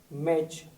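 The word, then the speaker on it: match: तीनों साथ आते हैं तो यहां पर टी साइलेंट रहता है इस वर्ड को पढ़ेंगे मैच इसको पढ़ेंगे बैच वैसे ही सी ए टी सी एच हो तो इसे पढ़ेंगे कैच इसे पढ़ेंगे लिन ऑन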